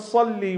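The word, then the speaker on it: صلِّ: It's Allahumma salli with a sad, Allahumma salli ala Muhammadin wa ali Muhammad.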